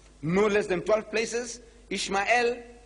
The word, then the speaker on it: Ishmael: I says, you know, in the book of Genesis, the first book of your Torah, no less than 12 places, Ishmael, that's how they say it.